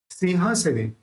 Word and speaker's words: सिंहासने: सिंहासने, यहाँ पे भी ह है, होठ नहीं मिलेंगे, तो इसका उच्चारण न।